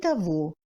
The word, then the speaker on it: того: Le G se prononce comme V dans les mots сегодня et того et les mots qui en proviennent.